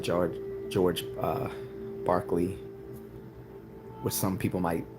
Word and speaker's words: Berkeley: California but it's he it was pronounced Barkley well even those of